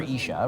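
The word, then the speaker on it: איש: It's ish, which is spelled Aleph Yud Shin.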